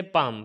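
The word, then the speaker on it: palm: इसी तरीके से पाम, पाम के अंदर भी एम से पहले एल आ गया तो ये भी साइलेंट हो जाएगा।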